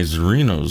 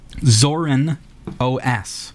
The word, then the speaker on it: Zorin OS: I was able to add a second hard drive to my Zorinos system. How would you pronounce that? Zorin OS.